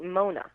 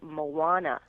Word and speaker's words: Moana: the dash in there because otherwise it looks like Mona. Oh. That's why I always either put an H in there or a dash to show that it's actually Moana.